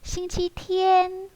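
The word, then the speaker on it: 星期天: 자, 일요일은 꼭 기억해 놓으셔야 될 게 싱치7라고 하지 않고 싱치天 혹은 싱치日라고 읽는데 싱치日 같은 경우는 서면체이기 때문에 회화에서는 주로 다 싱치天이라고 많이 얘기하니까 싱치天 꼭 기억을 해 놓으시길 바랄게요.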